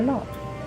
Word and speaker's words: naught: No, for naught.